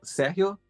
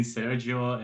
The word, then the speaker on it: Sergio: call you Serio but I believe in Spanish s Serio yeah it's a Serio but it's okay I'm I'm very used to um hearing Sergio and everything because Germans can usually not say my name properly so fine okay it's